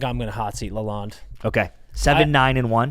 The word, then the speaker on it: Lalonde: Is it Lalonde?